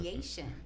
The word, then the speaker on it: Yashin: Yashin.